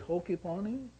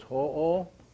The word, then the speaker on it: Ho'oponopono: So it's ho-o. Ho-o. Not ho, like Santa Claus. Yeah, so pono, pono. So ho'o, pono, pono.